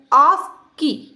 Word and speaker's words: ASCII: इसका प्रोनाउंसिएशन होता है ASCII और माइक्रो कंप्यूटर के लिए ही कॉमन स्टैंडर्ड होता है।